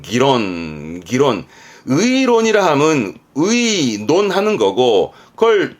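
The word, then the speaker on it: 議論: 발음은 기론.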